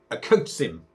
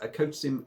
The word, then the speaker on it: Okocim: is a can of a coach sim a coach Sim I believe that's pronounced akotsim a yasni uh it's in